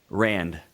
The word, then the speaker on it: Rand: Okay, and was it Rand or Rand? Rand.